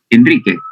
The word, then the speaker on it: Enrique: gracias bien alguna otra pregunta enri así se pronuncia tu nombre enri Enrique Enrique profesor Ah perdón perdón Enrique si no